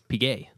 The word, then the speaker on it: Piguet: I will correct you, though. It's Piguet. What did I say? Piguet? Piguet. Oh, yeah. It's just Piguet. It's Piguet. A hard G.